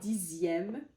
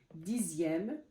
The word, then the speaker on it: dixième: c'est par exemple comme dixième comme j'ai écrit ici dixième deuxième en fait c'est dans les la plupart c'est dans les nombres en fait quand le X se prononce z z et on va voir